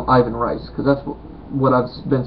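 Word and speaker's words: Ivan Reis: name of course uh Ivan rice Ivan Rus uh Heist I don't know Brazil they pronounce the RS like H's it's re e i s so however you would pronounce that he is he is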